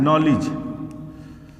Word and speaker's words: knowledge: नॉलेज। और नॉलेज तो क्या होता है? ज्ञान। नॉलेज देखिए पढ़ते हैं नौ से लिखते हैं, लेकिन जब इसकी स्पेलिंग क्या होगी? के से शुरू होती है।